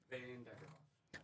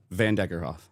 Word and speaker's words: Vanderkerkhove: How do you pronounce your last name? Van Deckerhoff. I turned your mic off one more time. Van Deckerhoff.